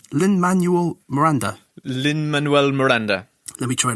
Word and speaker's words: Lin-Manuel Miranda: Lin-Manuel Miranda.